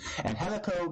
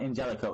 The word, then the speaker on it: Angelico: Angelico began, and it is Angelico. Anybody who wants to pronounce his name wrong, it's not Angelico, it's Angelico.